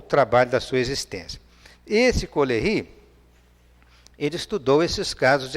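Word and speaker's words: Caullery: Ele fala só Collery, né, que escreve-se dessa forma com a pronúncia francesa.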